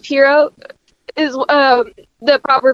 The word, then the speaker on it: Pierrot: It's pronounced Pierrot. Is the proper pronunciation. I used to say Perriot too.